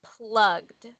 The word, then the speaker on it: plugged: with the word plugged, when we add the ED at the end, it sounds like it should say plugged. That's what it looks like. But English is tricky. So the correct way to say it is plugged.